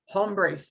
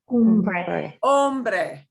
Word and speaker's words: hombre: Here's the thing you hear mispronounced in old 1930s, 1940s Western movies all the time. Hombres. Oh my God, awful. Hombre. Hombre, man.